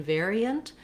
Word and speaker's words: variant: Then looking at variant, we also have first syllable stress in variant. The letters AR here say the air diphthong.